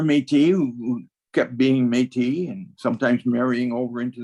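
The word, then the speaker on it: Métis: preferred because it's spelled m-e-t-i-s and as people began to read French more and more they said metis okay but that was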